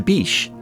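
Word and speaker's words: Bitche: the french town of veal de bish spelled with an e at the end was taken down by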